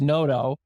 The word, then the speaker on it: Noto: Peter's, below Noto Restaurant, Noto, and pronounced Noto.